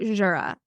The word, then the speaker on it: Jura: makes sense okay cool okay um how about Jura that was correct yeah J that was pretty